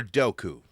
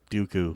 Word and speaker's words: Dooku: Is it Dooku or Dou? Dooku. Dooku. Okay. Just making sure. I've been saying it wrong.